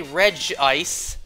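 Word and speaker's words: Regice: ice but you're not wrong if you say reg ice since technically the anime said it too as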